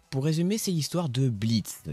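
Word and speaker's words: Blitzø: résumer c'est l'histoire de Blitz qui s'écrit blitzo mais le ne se prononce pas sais pas pourquoi qui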